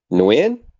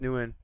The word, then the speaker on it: Nguyen: Nguyen? Did I Mm, say it right? new I in. think the G is actually silent. I think it's new in.